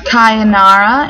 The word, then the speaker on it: Kayanara: cute sounding name kind it kind of reminds me of sayonara like in Japanese goodbye they have a couple